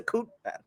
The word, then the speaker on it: coup d'état: It's a coup d'état.